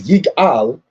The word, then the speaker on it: Igal: Igal, pronounced as Yigal, means he will redeem.